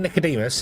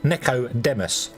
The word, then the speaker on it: Nicodemus: It it pronounces my name uh instead of Nicodemus, it pronounces Neois, which is like um and it's American. It's got an American accent.